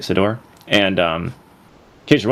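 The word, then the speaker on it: Ciddor: uh Cider uh Sedor, I think is actually how you say it, Sedor.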